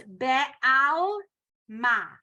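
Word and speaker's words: בעלמא: Yeah, When it's at the beginning of the word, you pronounce the eh under it. So this would be be, be'alma. right? Like here, le'ela, ve'yitadar, right? So you're making the eh sound. When it's in the middle of the word, there is no sound uttered. It's just a syllable stopper.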